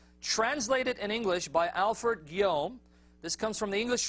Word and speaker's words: Guillaume: It's spelled Guillaume, but he says Guillaume. All right. Alfred Guillaume translated Sirat Rasulullah.